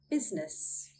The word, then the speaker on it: business: Couldn't find a theory of why we don't pronounce the letter I, and I could only find one example, and that is business.